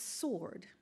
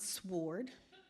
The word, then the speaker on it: sword: you pronounce that word its sword not sward a shrink and shame